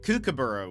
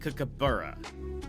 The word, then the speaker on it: kookaburra: He's like, no, it's like cook, and then, but he was like, there's an emphasis on the B, on the like buh sound. So it was like kookaburra, something like that, right?